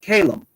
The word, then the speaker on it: Callum: but it is pronounced calum so that basically how i would pronounce my name my name is pronounced calum but it is spelt